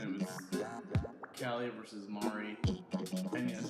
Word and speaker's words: Mari: final Splatfest Splatoon, and it was Callie versus Mari. And yes, it's Mari. Not Mari, because it's calamari. Don't argue with the pronunciation of that, it's Mari. And Mari won.